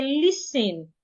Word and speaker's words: listen: The rule says when you have letter S before letter T, sometimes not all the times, the T should be silent. So we say listen, we should not pronounce the T.